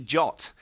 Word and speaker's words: JWT: the RFC it's actually it says you should pronounce data BT jot so if you find